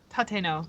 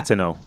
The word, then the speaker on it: Tateno: first match is Medusa Miselli versus Noriano Tati Tateno. Am I pronouncing that right? Chelsea Tateno. Yeah. Tateno.